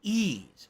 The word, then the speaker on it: Ys: out next year right it's pronounced ease oh okay it's pronounced